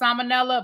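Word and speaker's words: Ciminella: was born her birth name was Christina Claire Salmonella and it's spelled C I M I N E L L A. So it's pronounced Salmonella but it's not spelled the name as it's not spelled the same as Salmonella.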